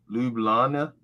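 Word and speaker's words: Ljubljana: morning dedication well hey pronounce it lubellana i think you just don't pronounce the g's so it's illegal oh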